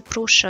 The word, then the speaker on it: Prusa: Der Hersteller wird jedoch korrekterweise Prusa ausgesprochen.